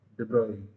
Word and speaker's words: de Broglie: Yeah, de Broglie is the pronunciation of the name.